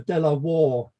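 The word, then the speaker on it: De La Warr: the locals called the delaw war Pavilion um but I think the original pronunciation was Delaware as in the US state which was named after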